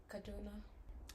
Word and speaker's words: Kaduna: Again, Kaduna.